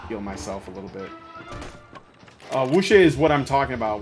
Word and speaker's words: Wuxia: I'm gonna try my best to pronounce this. Wuxia? Wuxia? Wuxia. W-U-X-I-A?